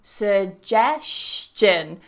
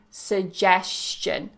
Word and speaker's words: suggestion: similation in English where we change a sound to make it easier to transition and pronounce another sound so you might hear some natives including me saying suggestion suggestion so the stress